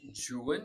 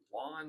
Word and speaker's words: Juan: It is pronounced Juan in the original poem and not Juan, which is a little bit